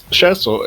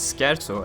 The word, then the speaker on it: Scherzo: far as i remember like 120 ish while shersel is well basically twice as long if not